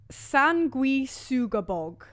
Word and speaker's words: Sanguisugabogg: Sanguisugabogg. Your starter for 10. God, do you want to spell it out fully? Just so people know. I just did. San. Yeah, S-A-N. Gui. Suga. Bog. Yeah, so, and the album